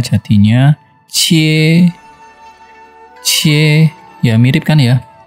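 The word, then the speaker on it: 切: Contohnya kalau kita kasih Ji di kiri, Ji 7 tuh, kita di kanannya dikasih Tao Zi Pang, bacanya jadinya Cie.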